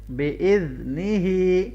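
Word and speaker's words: بِإِذْنِهِ: बिइज़्निही, ज़ाल को नरमी से मिलाना है और यहाँ पे खड़ी ज़ेर है तो लंबा करेंगे।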